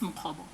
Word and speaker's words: Mukhobo: your surname correctly, because somehow I think I've been pronouncing it as if the first O is A. So if you can just tell, is it Mukhobo? It's Mukhobo.